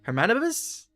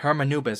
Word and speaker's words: Hermanubis: One of King Deshret's 7 pillars, Saint Hermanibus? He mentioned it. Hold on, how you say it? 2 good reasons, in fact. Incidentally, 3 is the maximum number of Hermanubis's Ba fragments that I could bear. Hermanubis, okay, got it.